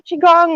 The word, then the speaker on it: qigong: like maybe uh to do a little more qigong or am i actually saying it right yet